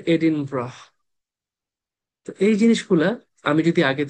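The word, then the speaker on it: Edinburgh: স্কটল্যান্ডের capital city এডিনবার্গ লেখে এডিনবার্গ উচ্চারণ করে এডিনব্রাহ এই জিনিসগুলা আমি যদি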